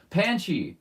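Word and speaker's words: Panshi: I remember it rhymed with Zanchi, and I was like, why did they spell Zanchi with a P? But it was actually pronounced Panchi!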